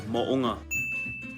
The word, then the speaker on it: Mo'unga: The proper way to say it is Mo'unga.